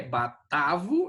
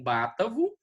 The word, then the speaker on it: batavo: Aqui é batavo e não bátavo.